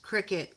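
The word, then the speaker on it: Cricut: Oh yeah, it's pronounced cricket.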